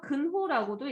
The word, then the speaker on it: 근호: 자, 그래서 얘를 루트라고 읽고 읽을 때는 보통 루트라고 읽고 루트랑 같은 표현이 제곱근인 거야. 또 다른 표현 하나 더 있죠. 근호라고도 읽어요. 근호.